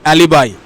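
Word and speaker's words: alibi: এই যে অ্যালিবি উচ্চারণ যেই করে দিলে সাথে সাথে ভুল হয়ে গেল, কারণ এটার সঠিক উচ্চারণ হচ্ছে অ্যালিবাই।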